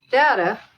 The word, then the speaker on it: Data: for data yeah yeah data look at this data what my name it is pronounced data oh you called me data what's the difference one is my name the other is not what did you think